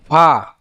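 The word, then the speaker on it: فاء: অনেকে ফাটা উচ্চারণ করে ফা, ফা, কিন্তু ফাটা এরকম উচ্চারণ হবে না। ফাটা উচ্চারণ হবে যে নিচের ঠোঁটের পেট, নিচে যে ঠোঁট আছে, এই ঠোঁটের পেট সামনে উপরের, যে সামনের উপরের দুই দাঁতের আগার সঙ্গে লাগাইয়া ফা, ফা, ফা, ফা এরম বলা যাবে না, ফা।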